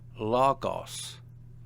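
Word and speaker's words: λόγος: Logos word. Notice the accent on the penult or second to last syllable.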